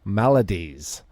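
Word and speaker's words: maladies: a range of psychological Melodies what's Melodies Melodies are is a musical term that's Melodies this is m a l a d i e s okay am I pronouncing that wrong I think it's when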